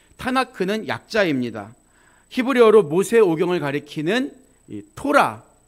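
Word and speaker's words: תורה: 히브리어로 모세오경을 가리키는 토라, T자 발음이죠.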